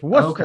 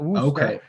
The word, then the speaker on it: Worcester: Near Worcester? What area? No, we're in Boston, and it's Worcester, Okay. by the way, not Worcester.